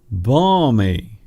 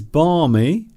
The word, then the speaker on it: balmy: Balmy. I like this word. If something is balmy, very interesting spelling there, you see, because you have a silent L. The letter L is silent.